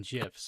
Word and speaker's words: GIF: Nobody he keeps mocking me in GIFs, alright? Actually, that's a good question. Mara, how do you pronounce it?